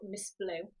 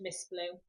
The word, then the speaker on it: Ms Blue: a company called called Miss blue now you do spell it as Ms blue but it is pronounced Miss blue and with me picking